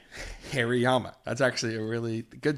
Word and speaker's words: Hariyama: find his goddamn name Hariyama Hariyama Harry's Allah damn name the sumo wrestlers remember that Yama is very hairy Hariyama that's actually a really